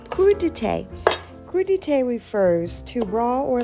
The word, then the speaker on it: crudité: Let's talk about crudité. Yes, it is a French term pronounced crudité.